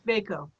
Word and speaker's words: VACO: how do i actually pronounce it is it vaiko is it voco and whatever gets said right now is actually the answer since you guys made this up it's veikko fako fair enough thank you our whole team